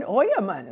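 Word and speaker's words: Ojemann: But if you were a German, how would you pronounce that first word? And you would tell your new neighbors in Texas that your that your name is Oyemann, right? And not O-J-E-M-A-N-N.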